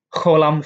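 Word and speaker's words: חוֹלָם: Kholam fau atau kholam, yaitu o panjang. Contoh pengucapannya seperti dalam kata opa.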